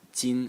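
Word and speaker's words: 金: And the semantic element is this radical on the left side, which is pronounced tin, and it's a metal.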